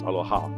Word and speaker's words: aloha: So the word aloha, I pronounce aloha because it's broken into two parts, alo and your ha.